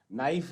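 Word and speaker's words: knife: तो इन सब में क्या है? के is silent, this is common thing.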